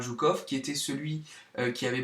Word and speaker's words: Zhukov: a le général Yukov, alors ça s'écrit J-O-U-K-O-V ou I-O-U-K-O-V, donc le général Zhukov, qui était celui qui